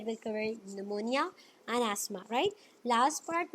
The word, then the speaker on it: pneumonia: right so this white निमोनिया इस निमोनिया right it's note P अमोनिया because piece silent हर ठीक है piece silent है तो हम इसे निमोनिया पढ़ने हैं इट्स और इनफेक्शंस